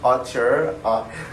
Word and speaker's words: auteur: You know, in those auteur movies, auteur is how you pronounce it, like, but you know what I